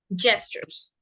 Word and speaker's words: gestures: This is pronounced like j, gestures.